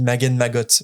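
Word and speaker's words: Wizengamot: En anglais, il n'y a pas trop de doute, ça se dit Magen Magot, voilà. Et tu prononces le T à la fin naturellement.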